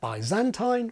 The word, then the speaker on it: Byzantine: And Byzantine, which is one of several pronunciations Brits use, is like tridentine.